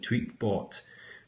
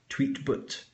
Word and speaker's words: Tweetbot: using the Twister client tweet bot where the English the the British English voiceover voice pronounced it tweet but instead of tweetbot so I relabeled it